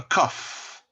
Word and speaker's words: cough: he has the flu a cough c-o-u-g-h pronounced with a fur he has a cough